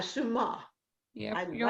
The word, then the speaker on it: Suma: Okay, so Sumna, and you Suma? have something in Suma. Oh, excuse me, Suma. No problem. Let me say it right, Suma.